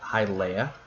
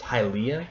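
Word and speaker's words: Hylia: we have high Leia I've always pronounced him hi Leia because I was confused by the ia and I i guess it's pronounced hi Leah hi Leah but I you know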